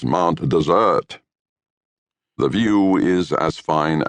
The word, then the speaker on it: Mount Desert: As decreed by the natives, one spells it Mount Desert, but the pronunciation is Mount Desert.